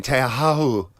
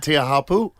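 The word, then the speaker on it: Teahupo'o: He's in Tahiti, in Teahahu. For the How do you say it? I can't remember. Is it Teahapu? I call it Chaupu.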